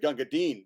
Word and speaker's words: Gunga Din: That's why I'm going to super pronounce it Gunga Din, because you fuckers are doing it wrong.